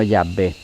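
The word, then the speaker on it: Yahweh: que lo más exacto es w1 yagüe sino llave llave la pronunciación jehova proviene del hecho de que para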